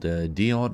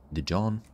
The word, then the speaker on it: Dijon: It's called Dion or Dijon. Dion, probably. That's how they pronounce it.